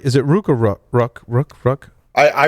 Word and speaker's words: Rook: right is it rook ruck i i pronounce it rook i'm sure at some point in history it was rook but yeah i think it's it's just like the chess piece or the bird that's um paul pronounces